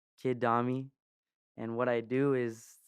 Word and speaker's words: Dami: through music so yeah kid domi pronounced domi d-a-m-i um comes from my name